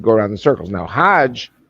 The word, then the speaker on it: hajj: around the circles now hajj is the pilgrim the mecca hog is the egyptian pronunciation hog in hebrew means